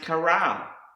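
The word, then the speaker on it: קרא: The next word is pronounced kara, and this is to call, to cry out, to invite and proclaim, to read and summon.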